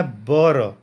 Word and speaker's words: भर: तो ये भर का असली प्रोनाउंसिएशन इनका क्या होता है, इनके पुरातत्व के अनुसार या पुरातत्वविद के अनुसार भर का असली प्रोनाउंसिएशन या उच्चारण होता है बर। भर को ये बर कह रहे हैं कि असली इसका उच्चारण बर होता है।